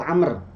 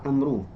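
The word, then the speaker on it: عمرو: Di situ bukan Umar. Di situ Amr. Ya, kenapa? Karena di depan roknya itu ada wawunya. Kalau Umar itu tidak ada wawunya. Kalau ini ada wawunya, dia dibacanya itu Amru.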